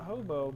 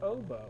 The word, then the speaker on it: Oboe: Even if it came to the conclusion of Actually, it's not hobo, but oboe.